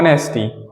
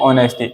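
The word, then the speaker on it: honesty: है साइलेंट होता है जैसे आपने कहा ये क्या लिखा है आपने कहा नेस्टी नेस्टी जी नहीं ये नेस्टी नहीं है इसको हम बोलते हैं ऑनेस्टी इसमें एच साइलेंट होता है क्या होता है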